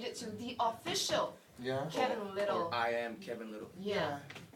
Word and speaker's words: Kevin Lyttle: the official little twitter account it's a it's kevin little just straight kevin literally well you ought to